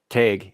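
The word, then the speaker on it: Tadhg: an old Gaelic man's name tag for example tag is spelled t-a-d-g-h say that again how's it spell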